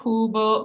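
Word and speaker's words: cubo: so we have that c followed by a u which makes that hard C Sound and Kubo means Cube all right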